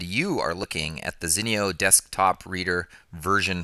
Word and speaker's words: Zinio: Kenton Larson and you are looking at the Zeno desktop reader version 4 and I love this